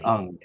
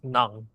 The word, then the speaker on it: Ng: He pronounces it ung. When I first encountered your name, I would read it as, in the Philippines, it would be read as Nang.